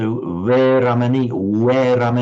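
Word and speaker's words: veramaṇī: They pronounce it as a pure W. So Veramani Sikhapadam Samadhiyami. So just as a pure W, exactly like the English W.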